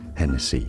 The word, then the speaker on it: Hennessy: Hennessy in French, the H is silent, although this is a name of Irish origin, so you could say it as Hennessy, it'd be fine as well.